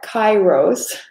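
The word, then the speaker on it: kairos: responsibilities that kronos and what's the cryos am i saying it right yeah kai rose um what's the chiral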